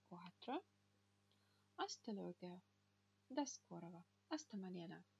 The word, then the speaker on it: hasta: Так, H не читается вообще. Допустим, у нас были слова hola, привет, или hasta, hasta mañana, hasta luego, hasta la vista. Там было слово hasta, там H не читалось.